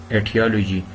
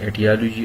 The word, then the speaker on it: etiology: Etiology. Etiology pronounced in both way. Etiology also etiology.